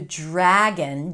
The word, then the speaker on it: dragon: nt The dragon, it's a little hack here, the dr is pronounced as a j.